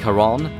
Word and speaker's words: Charon: I know a lot of people wouldn't know that Charon is the ferryman of the dead in the Greek mysteries, or that it's pronounced Charon, but am I the